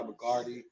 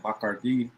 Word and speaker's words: Bacardi: You know, look, again, this episode was sponsored by McCarty Pineapple. It's not what I say is, you know, it's not sponsored by me. Or if we're gonna say it right, Bacardi.